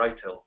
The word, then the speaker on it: ITIL: So from an IT service point of view, there's a very strong industry standard already out there, which is ITIL or ITIL, depending on your pronunciation preference.